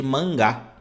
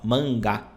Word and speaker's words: mangá: uma página aqui a gente chama eles de mangá né ó mangá Ok só que a pronúncia correta é o seguinte aqui ó nós